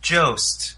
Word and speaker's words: Jost: york new weekend update co-anchor pronounced jost colin jost is in